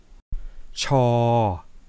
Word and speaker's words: ช ช้าง: to the Thai culture now let's try to pronounce chores hang together cha-chang cha-chang cha-chang okay now it's time to write